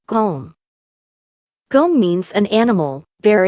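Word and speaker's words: 곰: When a consonant miam is placed at the end of a syllable, it has the M sound in English, as when it is a first consonant. It's go. I'll add the consonant mium to it. It becomes gom.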